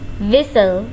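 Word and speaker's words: whistle: हंसना विस्पर विस्पर खुसरफुसर करना एक दूसरे के कान में खुसरफुसर करना विसल विसल टी इसमें है साइलेंट इसे हम पढ़ेंगे विसल विसल सीटी बजाना स्नोर स्नोर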